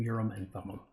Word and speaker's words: Urim and Thummim: two of the very best I've seen I pronounce them Urim and Thummim okay and I think you know Joseph himself